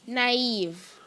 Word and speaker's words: naive: Am I pronouncing the word right? Naive.